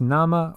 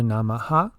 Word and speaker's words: namah: or bowing and deference this word can be pronounced as Nama or namaha it depends on the number of syllables needed in the phrase in this case it's pronounced in a breathy way and the ha is not fully pronounced this allows the Mantra